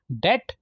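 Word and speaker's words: debt: डेट, अब इसमें डेट में बी साइलेंट होता है, ये याद रखना है आपने।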